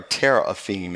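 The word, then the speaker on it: teraphim: interesting it's um triathan if you will or Terror of theme is the way it's actually pronounced and it's used seven times as image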